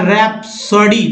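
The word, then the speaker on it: rhapsody: तो दोस्तों इसमें RH में जो है R के बाद H का उच्चारण नहीं करना है, क्या पढ़ना है, R को पढ़ना है, उसके बाद पढ़ना है, यानी राइम, रिद्म, रेटोरिक या रैप्सोडी।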